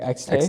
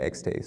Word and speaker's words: Xtaye: And then, um, where did the name X, am I saying it right? XT. XT. Yeah.